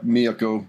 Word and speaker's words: Miyako: Miyako, I guess. Somebody said, you should only be using the first syllable for the accents on all of the names in Japan.